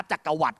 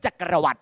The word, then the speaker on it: จักรวรรดิ: ว่า จักร หวั นะ จักรวรรดิ ครับ เพราะ มี ด เด็ก สระอิ ไม่ ได้ มี ธัน ฆาต ด เด็ก ไม่ ถูก ฆ่า เสียง สามารถ ออก เสียง ด เด็ก เต็ม ที่ ได้ อีก รอบ นึง จักรวรรดิ พูด ค่ะ จักรวรรดิ จักรวรรดิ